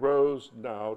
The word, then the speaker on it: Rosenau: Richard Rosenau, it took me a while to understand, Rosenau, two syllables, runs people analytics for Facebook.